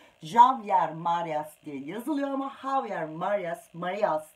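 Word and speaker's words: Javier Marías: Javier Marias diye yazılıyor ama Javier Marias diye okunuyor.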